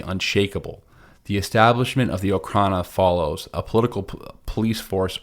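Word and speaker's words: Okhrana: in Russian but um diocrana which are so or Okana or okrana I think it's pronounced more okrana um they're they're the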